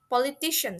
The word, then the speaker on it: politician: Politician, sorry. Politician similar to technology and production, it has emphasis in the middle of the word or syllable itself.